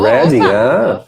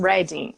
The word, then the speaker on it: Reading: Se escreve Reading como se a gente estivesse lendo, mas o pessoal aqui, quando está falando em relação à cidade, eles mudam a maneira como falam e falam Reading.